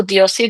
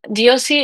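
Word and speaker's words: Diósi: Uh, Diosi is D I O S I. And it has an accent um I think in the O.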